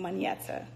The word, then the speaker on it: Monyetta: to how do you pronounce my name you pronounce my name Mana I just call me all right so